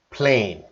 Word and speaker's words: plane: confusion is pronunciation and we were talking about the magic e let's see just three words and you could see the pronunciation band man can ban all right so the vowel sound man can ban and then we have the magic e we're going to change it from short to long vowel sound to main